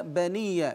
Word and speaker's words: بني: الوصل وحزني هكذا ايضا يا بني بفتح الباء نلاحظ هنا بني ليس بضم الباء يا بني من ملحقات